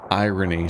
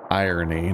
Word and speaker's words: irony: A sweet, rotten irony smell that makes me feel nauseous. Irony, not irony. It's emphasis on the wrong syllable.